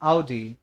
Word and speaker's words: Audi: The word is called as आउडी. ठीक है. वही पंजाबी गानों ने सबको बर्बाद कर दिया है. लंबरगिनी, जगुआर, सबको बर्बाद कर दिया इन लोगों ने. तो प्लीज वहां से प्रोनाउंसिएशन मत सीख करके आना.